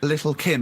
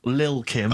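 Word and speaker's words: Lil' Kim: Now, Steve, I see there it's a track by Little Kim, but how are you pronouncing it? I'm pronouncing that correctly. Lil Kim.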